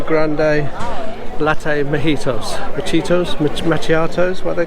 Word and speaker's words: macchiato: Macchiatos, how do you pronounce them?